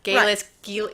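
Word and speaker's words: Geillis: Galis, I think we said Gillis. We thought it was Gillis Duncan, and then we found out it was Galis Duncan.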